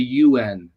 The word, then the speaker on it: Yuen: Is that correct? Yuen? There's 2 pronunciations. My last name's Smyth. Smyth? It's Irish, yeah. But it's the Yuen, Dr. Yuen.